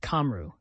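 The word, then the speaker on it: Cymru: Answer: Simu, pronounced Kamru.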